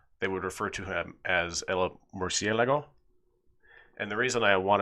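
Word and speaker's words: Murciélago: like like over a by default if there's no accent you accent the second to last syllable so if that the accent above the e wasn't there you would accent the LA syllable Murcielago but that's not how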